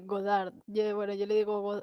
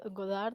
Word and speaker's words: Goddard: he pronunciado ghost bar y pronunció bien su nombre sí godard godard y pues cuando lo